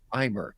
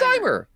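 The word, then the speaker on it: Aymer: curse you randomizer um figure out the last name it's uh aimer aimer a-y-m-e-r how the hell is that pronounced Heimer it's eimer he's a great he's a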